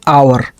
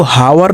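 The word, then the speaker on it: hour: पहले एन एन आवर इसको हावर नहीं पड़ेंगे ठीक है प्रोनंसिएशन रूल में आपको मैंने पढ़ाया है एच ओ यू आर यहां एच साइलेंट है एच को नहीं पढ़ा जाएगा यह साइलेंट है सिर्फ ओ यू आर आवर ही इसको पड़ेंगे हम ठीक आवर का मतलब होता है घंटा।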